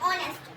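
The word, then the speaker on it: honest: अब यहां पर भी हम स्पेलिंग को नहीं देखेंगे। हम क्या बोल रहे हैं? ऑनेस्ट। ओ ओ मुंह देखो गोल बन रहा है ना? ओ ओ का साउंड आ रहा है। किसका साउंड आ रहा है? ओ का।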